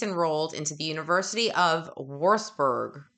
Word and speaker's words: Würzburg: This is actually pronouncing the word correctly. Würzburg.